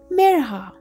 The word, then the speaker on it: Mirha: They stretched out the I until it sounded like an E and their R sounded wrong. Some people even forgot the H.